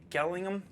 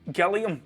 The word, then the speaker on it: Gilliam: the other day and he told me i was pronouncing his name wrong so gilliam terry gilliam i've been calling him terry gillingham for since i was a teenager terry gilliam i probably